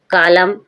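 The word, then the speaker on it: column: कॉलम कॉलम means स्तंभ। ऐसा होता है कॉलम। एक कॉलम दो कॉलम। कॉलम मींस स्तंभ। यहां पर कॉलम। कॉलम मींस स्तंभ। एम के बाद एन है। साइलेंट है।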